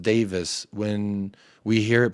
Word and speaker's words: Davies: katari investment um big being Welsh Jacob Ben Davies is pronounced Davis when we hear it pronounced Davies drives us up the